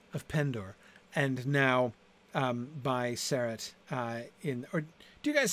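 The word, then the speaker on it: Serret: Okay, most of you are first syllable, actually. Okay, all right, good. I'll stick with it then.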